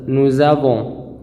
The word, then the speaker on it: nous avons: Ici, la lettre S, ça se prononce z. Nous avons.